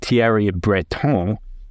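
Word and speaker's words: Thierry Breton: tiar Breton and yes I I pronounced it tiar Breton because I'm fancy like that said Friday we are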